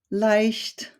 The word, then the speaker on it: leicht: E and an I, and this combination is always pronounced like the English letter I. We have words like Eimer, Eisen, leicht, feilen, and the last